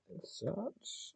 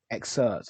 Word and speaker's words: excerpt: Consider this excerpt experts exert how you say that word. expert excerpt. I had to say it right the first time.